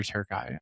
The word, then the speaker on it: Türkiye: So, it's Paraguay, Australia, and Turkey or Türkiye, I believe is how they pronounce it in Turkish.